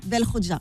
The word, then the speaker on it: Belkhodja: Alors c'est Belkhodja. Belkhodja. Voilà, je me présente avec ton nom de Ah famille. oui. Excuse-moi. Première fois qu'on le prononce bien, je suis choqué.